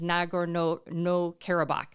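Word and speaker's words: Nagorno-Karabakh: so just know that the strip of land is nagor no no kabach according to how I looked up how to pronounce it correctly and in this strip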